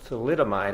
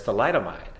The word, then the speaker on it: thalidomide: I'm a doctor and you just pronounced thalidomide as tool item ID in your newscast that